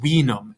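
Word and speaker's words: vinum: look down below and see v-i-n-u-m that's wenum in latin right and you can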